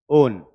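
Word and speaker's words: -one: ओन। है ना? वैसे दिखने में ये वन जैसा है, पर जब इसको किसी नाम के पीछे लगाते हैं तो इसका प्रोनाउंसिएशन ओन जैसा होता है, वन जैसा नहीं।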